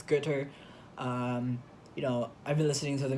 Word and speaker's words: Goethe: I read Goethe. I mean, sorry, I mispronounced it. It's Goethe.